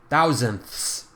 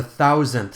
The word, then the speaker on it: thousandths: decimal point looks like thousandths remember to get that sound at the end the thousandths so how do I